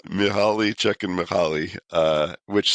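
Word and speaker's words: Csikszentmihalyi: So, it's Mihali Czech and Mahali. Uh, which some people pronounce check mihi, which I don't think that's actually how you pronounce it, but you know, it's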